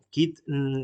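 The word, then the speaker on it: Kyd: Kit se escribe con K y D.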